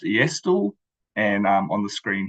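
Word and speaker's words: e-asTTle: in New Zealand and the acronym for um our tool is pronounced estol and um on the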